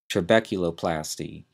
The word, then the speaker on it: trabeculoplasty: known as a an what that's a laser trabeculoplasty l a s e r t r a